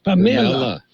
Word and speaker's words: Pamela: The Hispanic pronunciation of Pamela is Pamela.